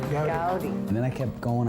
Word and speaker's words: Goudie: Goudie.